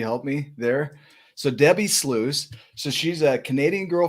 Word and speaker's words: Sluys: do you say that well if you think about like a super sleuth yes but it's loose sluice okay man i was